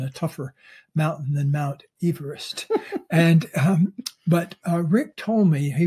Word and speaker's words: Everest: Mount Everest, and which, by the way, is pronounced Everest.